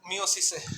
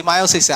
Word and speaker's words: মায়োসিস: এবার আমরা চলে যাব হচ্ছে মিওসিসে, সরি মায়োসিসে। আর দেখো আমারই উচ্চারণ মাঝে মধ্যে ভুল হইতেছে, এটা হবে মায়োসিস, নট মিওসিস। মিওসিস মানে হচ্ছে পিউপিলের সংকোচন, চোখের পিউপিলের সংকোচনকে মিওসিস বলা হয়, হ্যাঁ।